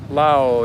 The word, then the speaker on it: Laos: I learned yesterday that it's pronounced Lao. Yes, I I've heard that, too. You You leave out the S.